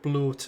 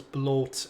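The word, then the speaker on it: blót: Just imagine the Swedish chef saying blot, and that's how it's pronounced, right? I think that's how it's... Yeah, I think it does sound more like blot in Swedish versus bloat in Norwegian or Icelandic.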